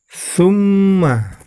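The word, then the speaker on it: ثُمَّ: Ya, di ayat yang ke-17 ini yang perlu diperhatikan adalah summa. Di situ yang berwarna merah terdapat mim tasydid, maka itu termasuk bacaan gunnah. Maka cara membacanya ditahan dan diperpanjang.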